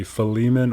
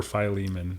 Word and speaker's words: Philemon: So I I often go there and it can be Fiman or Phileiman apparently.